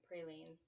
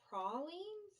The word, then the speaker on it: pralines: aren't you probably pralines northerners pronounce it pralines but it's really prolines i've never heard it